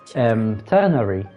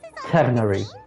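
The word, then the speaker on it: Tighnari: by the way, Tanari, I know they pronounce it Tanari, but in Arabic it's not Tanari. It's, you know, the R letter, the R in French when they say R, like bonjour instead of bonjour, R.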